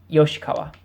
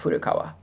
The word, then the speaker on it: Yoshikawa: you can see it, Yoshikawa. Yoshikawa, not Furukawa. So I showed you, this is the kanji for furui. Furu. This is the symbol for Yoshi.